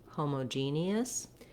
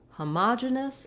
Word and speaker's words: homogeneous: on the other syllables the um the other pronunciation is homogeneous in this pronunciation the ma syllable is stressed rather than the g gene syllable being stressed and that changes the